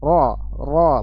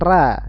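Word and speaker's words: ر: Baik, jadi ini dibaca tebal. Ro, bukan ra, ya bukan ra. Kalau ra itu tipis, tidak menaikkan pangkal lidah, suaranya tidak menaik.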